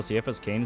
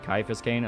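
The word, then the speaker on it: Ciaphas Cain: Also, Cephas Kane is pronounced Caiaphas Kane, at least according to the audiobooks.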